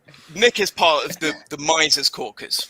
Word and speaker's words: Mises: So Nick is part of the Mises Caucus, right? And Mises, brother. It's Mises. I'm just going to start calling it Mises.